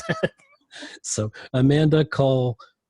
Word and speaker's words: Kulkoski: Did I say it right? Close. It's Kulkoski. It's long. Kulkoski. You even told me how to say it phonetically, and I messed it up. It's long and Polish, so everyone messes it up.